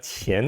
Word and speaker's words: 乾: 읽음 한대요 예 이러니깐 으로 있는게 아니라 치엔 으로 읽어야 됩니다 우리말로 건 룡 1